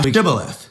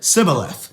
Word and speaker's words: Shibboleth: If he say nay, then they said unto him, say now Shibboleth. And he said, Sibboleth, for he could not frame to pronounce it right.